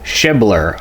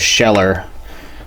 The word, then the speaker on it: Schebler: got inside oh apparently this is a Marvel shibler I thought it was sheller I was just reading that off of the what's stamp there on that Inlet flange so excuse me earlier for mispronouncing this I'm going to go